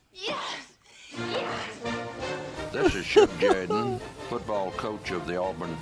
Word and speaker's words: Jordan: show now something completely different this is chug jordan coach of the auburn tigers no no no no no no pronounced jaden yes yes yes this is chuck jaden football coach of the auburn tigers love it